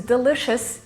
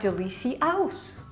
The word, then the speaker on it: delicious: other rules for example if you teach your kids that this word is musician and not musi cm they'll automatically know that this word is delicious and not Delisi house if this didn't magically